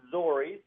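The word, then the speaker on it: Zoriz: So the name, it's Zori's. That's Z-O-R-I-Z.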